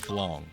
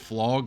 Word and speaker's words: Flog: And for your sanity, it is called Flog, but I will never stop calling it Flong. I can't help it. So if you hear me say it wrong, yes, I know I'm saying it wrong.